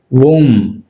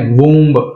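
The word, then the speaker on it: womb: వూమ్ అంతేగాని వూంబ్ అనకూడదు, వూమ్.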